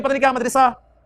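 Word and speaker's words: مدرسة: तो मदरसातुल लफ्ज होता है, हम उसे भी पता नहीं क्या मदरसा के पता नहीं क्या क्या बोलते रहते हैं, असल प्रोनाउंसिएशन है जी मदरसा, मदरसा, मदरसातुल बनाती, लड़कियों का मदरसा या लड़कियों का स्कूल, गर्ल्स स्कूल, ठीक है।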